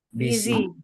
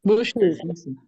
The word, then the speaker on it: busy: Busy. Bushy. Easy. Busy. Ini tuh bacanya gini, busy, busy. Busy. Bisa busy, no, tapi busy. Pakainya Z.